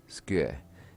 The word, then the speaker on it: 机: I mean, without practice, for the Romaji, to me, to pronounce that, it's Su-ku-e. But as they said, it's spoken quickly. 机 Skue. And, yeah, the ku and a really run together, so.